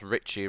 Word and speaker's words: Ricky: I think he's actually pronounced Richie rather than Ricky, but we're just going to go with Ricky.